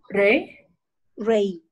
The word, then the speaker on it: reí: Yo me reí. Reí. Sí, tiene acento en la I.